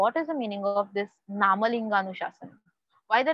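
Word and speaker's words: नामलिङ्गानुशासनम्: Further, we have one more name for Amarkosh, that is, please see the pronunciation, Namalinganuशासनम. Namalinganuशासनम.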